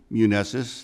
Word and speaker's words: Muneses: Muneses, that's spelled, last name Muneses, M-U-N-E-S-E-S.